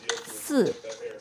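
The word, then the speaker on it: 四: Chinese is pronounced as soup and which is quite similar to the word to die right just note that the number 4 is a fourth tone falling and the word to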